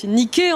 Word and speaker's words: Niké: que c'est un état à la fin, donc cette lettre grecque, et que donc on le prononce E.